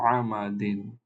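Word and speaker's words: عَمَدٍ: আইনের উপরে ফাতহা আ, মিমের উপরে ফাতহা মা, দেন ডালের নিচে তানবিন কাসরা, উচ্চারণ বা সাউন্ড হবে দিন। এটাকে আমরা পড়বো আমা দিন, আমা দিন।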